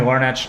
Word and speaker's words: Larnach: here that's what miles somebody else told me larnach is a hard c2 which I had never